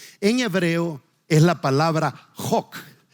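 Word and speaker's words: חֹק: Cuando usted lee la palabra estatutos en español, en hebreo es la palabra jok. La pronunciación es jok, J-O-C.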